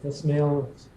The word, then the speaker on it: Esmail: You want to just start from the top with the, first of all, am I pronouncing Reena Esmail's name Reena correct?